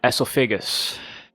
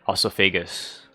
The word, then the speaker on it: esophagus: can't pronounce it uh esophagus but British people would pronounce it some people pronounce it uh also Figgis but I am NOT